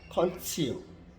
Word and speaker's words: contio: Ditulis Contio dibaca Concio, Concio. Tetapi Cetum Iustior tetap bunyi C.